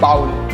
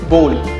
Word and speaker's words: bowl: हम क्या बोलते हैं? bowl. मगर the correct pronunciation is bowl.